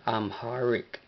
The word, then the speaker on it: Amharic: De hecho, no hemos hecho esto, pero lo introducimos, introducimos la pronunciación en inglés, lo cual es un poco semejante al amárico, pero hay una H que se pronuncia amharic.